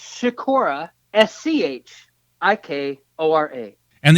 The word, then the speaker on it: Schikora: they can find you okay am i ke pronounced Sakura SCH okay Oh RA and the easy thing